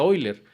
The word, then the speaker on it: Euler: y diciendo los que yo creo que se pronuncia hoy leer entonces era era eso